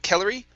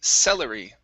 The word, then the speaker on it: celery: trade good good here instead of kellery this is celery stullery celery very nice very